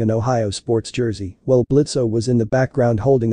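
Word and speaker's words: Blitzø: it play hi there I'm blitzo the O is silent and I'm the founder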